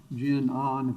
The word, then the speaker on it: GenOn: that brought us here uh genma's parent uh jin ahn that's how you folks pronounce it was providing the credit support once